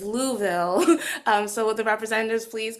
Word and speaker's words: Louisville: next program um now my friends have told me that this is pronounced University of Louisville um so the representatives